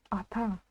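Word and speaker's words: ата: очень легко лишь напомню а читается именно как а прочитать как о ота мы уже не можем написано а та значит а та ударение на последний слог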